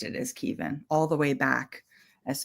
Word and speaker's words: Kevin: they wrote it as Kevin but we've always pronounced it as Kevin all the way back as far as I